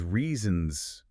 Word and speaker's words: reasons: Because reasons back then sounded almost exactly like raisins.